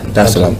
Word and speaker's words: Dar es Salaam: Did I pronounce that right? Yeah. Dar es Salaam.